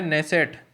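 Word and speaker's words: Knesset: जैसे हम नॉन को पढ़ते हैं तो नॉन में के साइलेंट रहता है, ऐसे ही नेसेट में के साइलेंट है, नेसेट लिखा जाता है।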